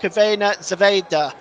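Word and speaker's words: Crvena zvezda: sorry Red Star Belgrade one Benfica 2 that's pronounced cavena Zeda by the way in case you're seeing that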